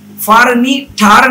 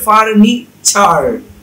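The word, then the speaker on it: furniture: উচ্চারণটা টি এবং ইউ হওয়ার কারণে টি এর উচ্চারণটা হবে ছ। তাহলে সেন চু না হয়ে হবে সেন চু রি, ফারনি ঠার না হয়ে হবে ফারনি চার, স্ট্রাক ঠার না হয়ে হবে স্ট্রাক চার, লেকচার না হয়ে হবে লেকচার।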